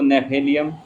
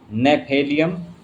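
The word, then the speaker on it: Gnaphalium: नेफेलियम note कर लें आप। नेफेलियम 200 इसमें जी से यह मेडिसिन का नाम जी से बनता है। जी इसमें साइलेंट होता है।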